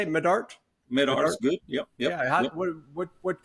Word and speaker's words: Medart: Is that how you say it, Medart?